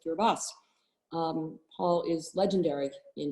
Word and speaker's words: Kiribati: may know as kiribati and we've learned is pronounced gerbas um paul is legendary in his work at